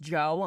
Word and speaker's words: Djo: I mean, it's pronounced Joe.